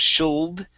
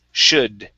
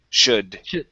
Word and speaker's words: should: up the word should the l is silent we do not pronounce that so instead of shuld it's should should should okay and next